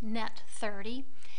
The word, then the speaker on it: net 30: on the invoice say n30 which is pronounced net30 that means that the